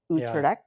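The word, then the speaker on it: Utrecht: And I'm glad you pronounced their last names because you're more familiar with how to pronounce the names of people from Utred.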